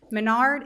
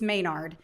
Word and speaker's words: Mayard: two friends Menard it's it's spelled mayard but I shop at Menard's and so I keep saying Menard sa big money at Menard yeah and I am doing my best but it's it's mayard and Lisa bitel they're